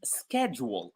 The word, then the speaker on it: schedule: There is one which is schedule. Schedule is also another word where CH is pronounced as K.